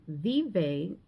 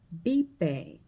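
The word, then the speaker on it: vive: So instead of saying vbe like you would read, you would say bipe.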